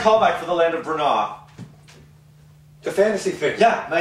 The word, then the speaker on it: Br'nah: It's Br'nah.